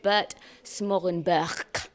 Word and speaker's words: Smorenburg: We're at the Piano Gallery in Faringdon for a very special presentation given by Yamaha's leading specialist, Bert Smorenburg.